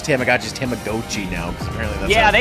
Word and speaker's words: Tamagotchi: I have to re-pronounce Tamagotchi's Tamagotchi now because apparently that's Yeah, how they it's pronounced. said it weird in the direct. Come on, it's Tamagotchi. I thought it was Tamagotchi because it's a gotcha.